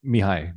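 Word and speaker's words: Mihály: Uh it's pronounced Mihai. Mihai Csikszentmihalyi. Mihai.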